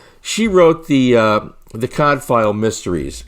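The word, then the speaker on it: Cadfael: as i said she wrote the uh the cod file mysteries cod file is spelled c-a-d-f-a-e-l i believe and she wrote many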